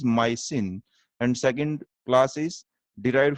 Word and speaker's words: mycin: Streptomyces species से derived होती है जिसकी स्पेलिंग के अंदर जो सुफिक्स आएगा that is MYCIN, इट इज माइसिन।